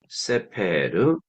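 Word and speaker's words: סֵפֶר: 부를 수가 있어요 보케르 세페르 멜렉 요런 꼴을 가지고 있잖아요 그런데이 세 명사의 공통점은 뭐냐면은 액센트가 맨 앞에 있다는 것이죠 왜 그러냐면이 세골 명사는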